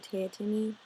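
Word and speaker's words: Teatime: character called te timy Mr teimi which is Mr tea time it's spelled tea time it's one of my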